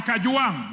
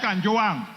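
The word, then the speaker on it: Kajwang: name properly I'm Nota I am kajang not Kang number two Mr Speaker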